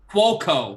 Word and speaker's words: Cuoco: Cuoco.